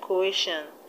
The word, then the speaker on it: coercion: We have suspicion, suspicion, and in the word coercion, the stress will be on the second syllable from the end. The word coercion has three syllables: coercion, coercion. So the stress will be on air. That's where you have the stress.